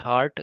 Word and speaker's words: heart: तो सबसे पहले हम ब्रिटिश सुनेंगे, इसमें र साउंड गायब होता है।